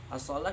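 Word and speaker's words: الصلوة: Asalah kita bacanya asalah tapi ditulis di dalam mushaf itu ditambahkan dengan wa ya assalawa tapi kita membacanya tetap asalah.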